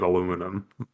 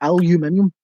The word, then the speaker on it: aluminium: But you can see when you look at it, it's aluminium. There's no there's no double O. How's there an ooh sound?